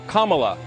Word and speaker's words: Kamala: to see her be respected her name is pronounced Kama like the punctuation mark La Kamala okay seriously I've heard every sort of mization